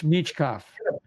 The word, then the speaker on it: Michkov: discussion meet michkov um I guess we gotta get it right it's mechkov pronunciation everyone seems to say mechkov so Matt B mov